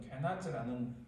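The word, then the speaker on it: קְנַז: 이 갈렙은 그니스 족속에 속한 여분네 아들이고, 이 그니스 달리만 그나스는 그 영어 성경 보면 케나스, 원래 히브리어 발음도 케나스라는 족속인데, 이 족속은 에스의 손자 엘리바스의 넷째 아들 에돔의 족장이에요.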